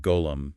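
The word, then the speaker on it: غلام: And then there is the J sound, which is a voiced fricative, kind of like gargling, lightly used in words like golam, meaning servant. And this is another major split.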